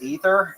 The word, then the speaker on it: Aether: Uh, cuz I'm I thought that I read uh God of Upper Air is actually pronounced Ether and I was like I just call it Aether instead.